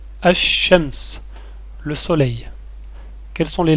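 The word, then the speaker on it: الشمس: mot essayez de le prononcer je vais le prononcer reconnaissez les sonorités asams asams le soleil quelles sont les lettres contenues dans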